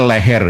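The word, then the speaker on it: Leger: Nah, jadi e yang pas ya seperti panjenengan koneng klik Netherlands eh indise leher terusnya kan leer ya saya baca kan lejer ini pembacanya leher ya jenengan mungkin ee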